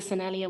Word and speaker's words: Sennelier: And yeah, so I suddenly used um, and so I suddenly used, yeah, these soft pastels, which are, I use the Sennelier ones.